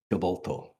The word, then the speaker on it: Tibolto: Is it Tybalto? How do you pronounce it? Tibolto. Tibolto, right.